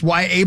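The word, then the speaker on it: Yahya: But he goes by, it's pronounced Y.A. Black. Y.A. Right? Just like Y.A. Tittle back in the day.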